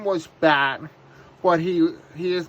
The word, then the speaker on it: Bat: that his name was Bat, but he is not a bat, so he's not an animal. His name is just B-A-T, or it might be something similar. It's pronounced as the word bat.